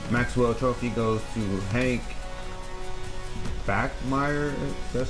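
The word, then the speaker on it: Bachmeier: run through this Maxwell trophy goes to Hank back Meyer that's how you say it the Boise State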